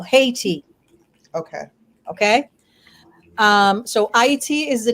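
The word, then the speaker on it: Ayiti: And the name is not hate. It's pronounced A-Y-T. Ah is the sound of creation. And those who know, obviously for reasons of war, they changed the name or the pronunciation of the name to Haiti.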